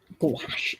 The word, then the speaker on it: gouache: have to use gouache gouache squash that rhymes with squash well it's something i